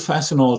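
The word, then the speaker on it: Fastenal: spelled fast okay fast ten all but it's pronounced fascinating and uh he built fasten all to more than three billion in sales with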